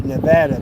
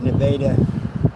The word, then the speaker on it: Nevada: We got it looks like it should be Nevada, but they everybody in the town pronounces it Nevada.